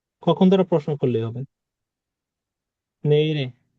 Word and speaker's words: 내일이: অনেকে কিন্তু বলো কি নেইল এ, 내일 নেইলে না, নেইরে। ইরে বাচ্চিমের নেইরে ক্লাসগুলোতে কিন্তু বলছি যে বাচ্চিমের পরে যদি জি। স্বরবর্ণ আসে, বাচ্চিমটা স্বরবর্ণের সাথে গিয়ে উচ্চারিত হবে।